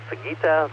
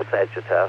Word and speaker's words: Sagitta: the little fox and sugita the arrow or sagittar I've heard it pronounced both ways so this is KFI